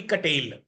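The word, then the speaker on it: Cattell: his environment कटेल ने क्या कहा था आरबी कटेल प्रोनाउंस कटेल ओके बहुत अच्छी इन्होने भी दी है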